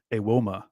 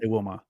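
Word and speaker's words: Evbuomwan: His last name is pronounced Ewoma. That's it. Oh, Ewoma. But it starts EVB.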